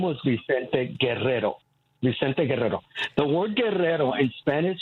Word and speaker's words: Guerrero: His name was Vicente Guerrero. The word guerrero in Spanish means warrior. Okay. Spell that for me, Roosevelt. His last name, yes. Guerrero. I'm sorry. Guerrero. Okay. Guerrero. Mm-hmm.